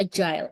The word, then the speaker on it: AGIL: Tulisannya agile, tapi bacanya agile.